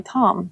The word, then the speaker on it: TAM: I think it's pronounced I think it's pronounced tam, but I just say Tom because tam doesn't sound good.